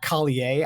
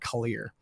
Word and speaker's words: Collier: It's like, no, you are Corelli, Collier. I don't ever know how you pronounce it. It's Collier, not Collier. It's not French, is what I'm told.